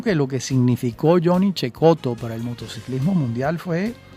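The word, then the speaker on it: Cecotto: Bueno, naturalmente, como lo denota claramente su apellido, Cheekoto, que se escribe secoto con doble T.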